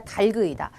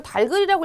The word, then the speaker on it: 닭을: 그런데 발음이 여기서 이제 닭을이 아니라 달그이다 선생님 누가 이걸 달글이라고 읽어요네 그렇게 있는 학생들